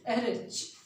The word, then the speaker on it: Ehrlich: This is Paul, इसके spelling याद करना। This is EHRLICH। This is एरिच, RICH.